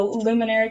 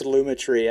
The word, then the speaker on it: Lumetri: easy i do the luminary color am i saying that right luminary lumetri lumetri lumetri i think it's luma tree i i said it